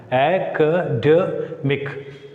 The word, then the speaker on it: academic: The rule regarding the suffix ic is, when a word ends with ic, it takes stress on penultimate syllable. Penultimate, second syllable from the end. Second syllable from the academic.